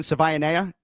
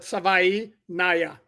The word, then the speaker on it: Savaiinaia: Savaiinaia. Savaiinaia. Okay. No, but you will not leave the show without saying it right. Savaiinaia. Like Hawaii, but Savaiinaia.